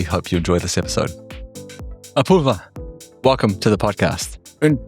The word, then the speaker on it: Apurva: Apoorva, welcome to the podcast.